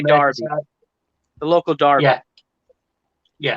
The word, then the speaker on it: Derby: Even though it's spelled Derby, but they say Derby.